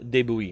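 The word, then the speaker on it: de Bouillé: u i l l e d francois claude deboui and he's a general there you uh you've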